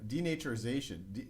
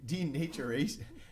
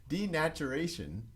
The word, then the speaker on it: denaturation: so this first step denaturization denaturation denaturation I have trouble pronouncing it's a weird word it's a it's